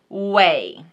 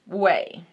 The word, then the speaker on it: Ouai: Oh, when you Google it, it says pronounced Ouai. So, Ouai.